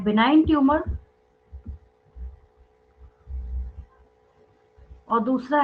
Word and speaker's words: benign: एक है बिनाइन tumour और दूसरा है मैलिग्नेंट ट्यूमर। एक है बिनाइन ट्यूमर्स, BENIGN, जी साइलेंट होता है यहाँ पे, बिनाइन ट्यूमर्स।